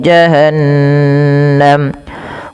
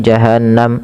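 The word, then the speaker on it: جهنم: Ingat gunah itu wajib ditahan nunnya. Jangan sampai lupa. Jangan hanya sekedar adzabu jahanam gitu ya. Tapi tahan lagi. Adzabu jahanam.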